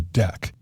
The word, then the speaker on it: deque: as a double-ended Q hence the name DQ pronounced deck so as to not confuse it with a